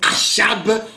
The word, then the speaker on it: Achab: Eh bien, il y a ceux qui l'appellent Achab, ce qui n'est pas faux, selon la prononciation des versions. Mais ici, nous l'appelons le roi Akab, qui était un des rois d'Israël.